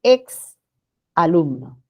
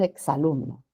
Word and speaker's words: ex alumno: alumno este es incorrecto nadie dice es un ex alumno cuando hablamos decimos es un ex alumno esa la pronunciación entonces x entre vocales forma sílaba con la segunda bien a ver igual